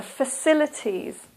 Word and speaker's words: facilities: singular amenity plural amenities the next one facilities this also is and the stress is here in the second syllable facilities so the city